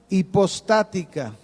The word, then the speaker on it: hipostática: Qué es la unión hipostática con h hipostática acento en la primera hipostática esta palabra hipostática